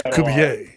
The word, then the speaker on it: Kubier: It's funny because it's so close to Kubiak, but it's Kubier.